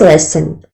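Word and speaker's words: lesen: do say read in German I think it's lesson yes next sorry can you say say that again it's lesson how do you pronounce it spell that for me it's l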